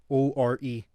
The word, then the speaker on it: ore: Or Magical Girl or O-R-E.